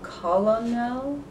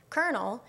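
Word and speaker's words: colonel: is colon now so an irregular word like kernel which you or I would be able to pronounce because we've memorized that that particular pattern of letters is pronounced as kernel she's not able to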